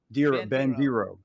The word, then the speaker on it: Bandiero: He's Real Al Bandiero, and it's Bandiero. Bandiero. Well, he says Bandiero. How do you say it, Al? Bandiero. In America, in Italian, exactly.